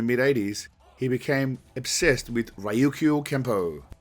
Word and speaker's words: Ryukyu Kempo: Then, somewhere in the mid-80s, he became obsessed with Ryukyu Kempo. Just the proper pronunciation.